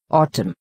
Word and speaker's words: autumn: Example: autumn. In autumn, N is silent.